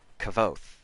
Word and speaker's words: Kvothe: slightly differently because the the name is spelled Kvothe, so my brain just went, okay, clearly the V is pronounced like an F, so you can kind of say this as one syllable. And that's not what most people do with that either. Because in my head it's pronounced Kvoth, whereas most people say Kavoth, which, okay, it's a V.